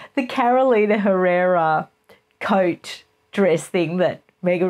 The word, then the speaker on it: Carolina Herrera: Carolina Herrera coat dress thing that Mega recently wore to